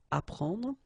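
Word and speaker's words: apprendre: a porno apron okay you don't pronounce the double p apron so here is what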